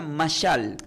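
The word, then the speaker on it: משל: Ya conmigo se pronuncia masal.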